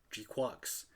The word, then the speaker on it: GQuuuuuuX: And they outright pronounce it Jaqueeks.